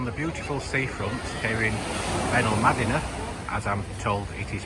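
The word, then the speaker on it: Benalmádena: upwards we're on the beautiful seafront here in venom madina as i'm told it is pronounced quite busy although there's still plenty of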